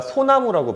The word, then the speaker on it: 소나무: 그때 앞에 빼버립니다 그래서이 솔나무는 우리가 소나무라고 발음하고요 불나방은 분화방이라고 발음해요 근데